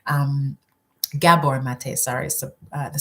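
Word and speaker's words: Gabor Maté: especially if you start listening to doctors like Gaba mate um Gabor mate sorry the syllable um you know when we're not when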